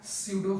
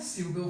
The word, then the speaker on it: pseudo: इसको लिख देता हूं क्या, स्यूडो फोर्स, P साइलेंट होता है, स्यूडो फोर्स, ठीक है।